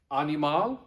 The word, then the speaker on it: animal: In the green, animal. Remember, not animal, but it does mean animal. Just don't say it like you're an English speaker. Say it like you speak Latin.